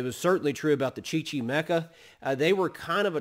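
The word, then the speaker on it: Chichimeca: indian tribe uh this tribe is called the chichi mecca chichi mecca c-h-i-c-h-i-m-e-c-a i believe let me spell that the chi chi mecca that indian tribe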